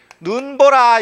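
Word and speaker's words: 눈보라: 그런데 이 긴 소리인 이 하늘에서 내리는 눈이 눈 보라 이럴 때는 이건 뭐예요? 요 단어의 첫 음절에 있죠? 그럼 이건 긴 소리를 그대로 유지합니다. 그래서 눈 보라 이렇게 되는 거예요.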